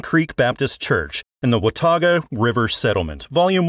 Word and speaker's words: Watauga: First, you did very well at saying Watauga. Many people have trouble pronouncing that word.